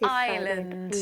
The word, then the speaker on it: island: I know that the S is island. We don't pronounce the S.